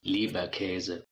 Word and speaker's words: Leberkäse: Leberkash. Leberkas. We got another pronunciation coming in quick, y'all. Listen close. Leberkäse.